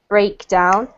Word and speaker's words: breakdown: That's because we've got, this is a noun here, it's a breakdown. If you're using the verb to break something down, then you can put the emphasis on the down. So in order to understand it properly, you need to make sure that you differentiate between those two, okay?